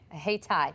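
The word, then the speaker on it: Hayti: what' you say ha it's not Haiti it's he Tai thank you exit says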